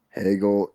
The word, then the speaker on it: Hegel: we do uh Hegel Hegel is groundbreaking okay yeah hey girls rhymes with Bagel so that's always a